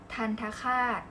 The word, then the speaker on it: ทัณฑฆาต: อ่าน ว่า ทัณฑสถาน อ่า ทัณฑฆาต อ่าน ว่า ทาน ค้า คาด มณฑล อ่าน ว่า มณฑล